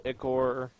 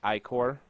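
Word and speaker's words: ichor: fill it with magical eor that's pronounced ior choose your wisely fills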